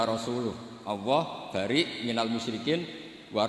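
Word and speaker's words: رسوله: Allah itu terbebas, gak urusan dengan orang musyrik, wa rasulih juga gak ngurus Rasulnya. Kalau sama Rasul saja tidak ngurus, apalagi sama kita. Terus sama Sayyidina Ali dibenarkan, yang benar bacanya itu wa rasuluh.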